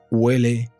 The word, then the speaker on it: huele: Eso huele mal. Y como sabéis, la H nunca se pronuncia.